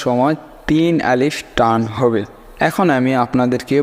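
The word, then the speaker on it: ألف: এক নম্বর বলতেছে দুটি হরফ আলিফ এবং হামজা টান হবে না।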